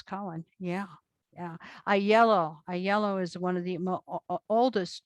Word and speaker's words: Aiello: ayala then to sicily with e lungo or what we would say a jello as some people mispronounce it to eventually the mainland has a yellow as a yellow as well and uh so i'm